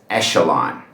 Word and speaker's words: echelon: But in this word, it is pronounced sh, so it's echelon.